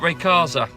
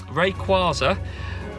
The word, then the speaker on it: Rayquaza: 3 Hoenn region legendary but also you got very Casa which requires er my pronunciations will get better way Rayquaza it could be that one but I doubt